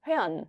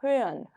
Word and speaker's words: hören: 근데 이거를 많이들 어떻게 읽으시냐면 hören 이렇게도 많이 읽어요. 그러니까 알 발음이 거의 안 들립니다. hören 이 정도로 읽으셔도 괜찮아요.